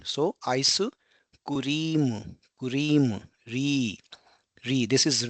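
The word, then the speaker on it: アイスクリーム: So you can see here because ice cream, so cream, here we have a long e sound like cream, ice cream. So it will be aisu kurimu.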